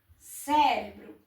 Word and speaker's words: cérebro: Climáticas, a sílaba tônica é má. Cérebro, esqueci de pôr o acento aqui. Cérebro. Então, as duas palavras, a sílaba tônica é a antepenúltima.